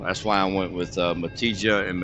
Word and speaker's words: Matija: So it's a hard sound, but I know in Spanish and some European or across the pond over there, I know it's pronounced like a Y sound, like a ya.